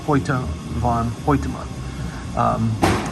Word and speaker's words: Hoyte van Hoytema: And the cinematographer is the same gentleman who did Ad Astra, a movie I reviewed yesterday, Hoyte van Hoytema. Finally got his name pronounced correctly.